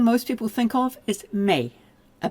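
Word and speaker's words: méh: The thing most people think of is may a B. Now notice the H is not pronounced.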